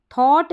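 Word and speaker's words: thought: अब यहां पर देखिए थॉट है थॉट में जीएच साइलेंट है यहां पर जो है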